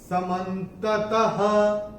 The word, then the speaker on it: समन्ततः: और चौथे चरण में त के बाद जो विसर्ग आ रहा है, चरण की समाप्ति पे आ रहा है, तो इसका उच्चारण केवल और केवल ह ही होगा। समन्ततः ऐसे करके आएगा ये।